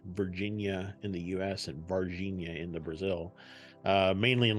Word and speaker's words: Varginha: So this episode today, we're going to be talking about the Varginha, Brazil case. I said it right. Not Virginia. That's in America. Virginia. No, it's Varginha.